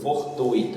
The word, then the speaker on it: fortuito: O nome aí, gratuito, intuito, fortuito e circuito, são todos exemplos de paroxítonas com a sílaba forte, tui, e não acentuadas porque